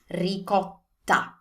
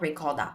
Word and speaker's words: ricotta: Ricotta. Ricotta. It's not ricotta, there's no D. Ricotta.